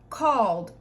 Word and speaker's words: called: Called, called, one syllable. It's not called, it's called.